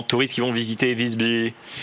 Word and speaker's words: Visby: Visby. Pour le prononcer à la suédoise.